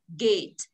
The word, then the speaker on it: gate: Cô đọc cái cổng là gì ạ? Gate. Mình đọc là get.